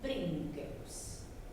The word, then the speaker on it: princeps: Entonces él dijo, "Yo no soy más que un prínqueps." Princeps, le viene la palabra príncipe. Prínqueps. La C en la crín se pronuncia acá.